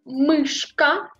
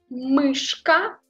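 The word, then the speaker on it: мышка: Il faut prononcer en retirant la langue.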